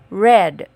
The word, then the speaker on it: read: is still the same only the pronunciation is different its past is pronounced as red so from read when changed to past tense it becomes red read red and the past tense